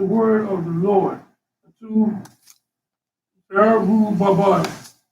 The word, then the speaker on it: Zerubbabel: Zerubbabel. Zerubbabel. Zerubbabel.